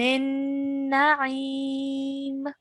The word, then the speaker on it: النعيم: So try and pronounce that ayn sound from the middle of your throat, okay?